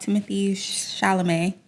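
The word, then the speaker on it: Timothée Chalamet: My next point is about Timothy Chalamet.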